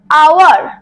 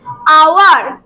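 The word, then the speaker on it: hour: যেমন আওয়ার, এইচ এর উচ্চারণ কি হচ্ছে এই শব্দটাতে? হচ্ছে না। কি উচ্চারণ হচ্ছে? আওয়ার।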